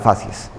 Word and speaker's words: facies: Sexto elemento en la inspección general del paciente, la facies. Y las facies. Facies es un término que se escribe y se pronuncia igual en singular y en plural. Uno dice la facies, las facies.